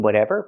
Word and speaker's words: whatever: We hear the T in whatever pronounced as a fast D because it's between vowels.